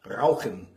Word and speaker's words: Rauchen: than fluttering my tongue, I flutter something in my throat, perhaps more like the way a German speaker would pronounce certain words. Rauchen ist nicht gut für die Gesundheit. Rauchen. So it's almost like a gargle.